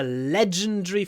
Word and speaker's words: legendary: next p was a legendary footballer legendary legend leanda legend don't say Le Legend stresses on the first syllable which means we do a long Legend a legendary footballer legendary